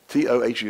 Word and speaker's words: tohu: Now, the word, I believe, void there is in the Hebrew, tohu, T-O-H-U.